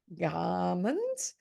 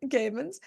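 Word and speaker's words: Gehrmans: in Finland with Sulasol and in Sweden with Gammons. Gammons. I mispronounced that. Gammons.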